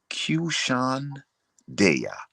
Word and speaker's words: QSHAN DEYA: H A N DEYA, pronounced QSHAN Deya.